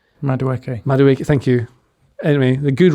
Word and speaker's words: Madueke: Madueke, thank you.